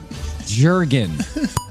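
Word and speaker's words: Jürgen: Jurgen. Like the hand lotion.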